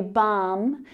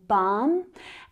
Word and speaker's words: balm: We would say balm with a silent L. So a lot like almond, we say almond and balm.